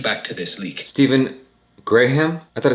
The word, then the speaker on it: Graham: Stephen Graham? I thought it's Stephen Graham. Graham. Graham. I thought it's just Graham, like graham crackers.